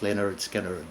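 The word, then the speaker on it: Lynyrd Skynyrd: Michael Field, Billion Dollar Babies by Alice Cooper, pronounced Leonard Skinner by Leonard Skinner.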